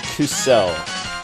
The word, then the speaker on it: kuso: Yeah, because you put the emphasis on the second syllable rather than the first.